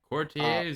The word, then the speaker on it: courtier: If I'm churching it up, it's Courtier, right?